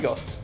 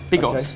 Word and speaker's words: Bigos: You said Bigos very confidently, like that is exactly how it's pronounced. Bigos. Yeah? Big, or as in rock, right. And as in sign, Bigos.